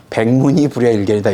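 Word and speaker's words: 백문이 불여일견: 못하다 이런 뜻입니다 이제 한국 사람이 이걸 이제 자연스럽게 우리나라 말로 발음하다 보니까 백문이 불려 일견이다 이렇게 이제 얘기하긴 하는데이 사전적 의미는 사실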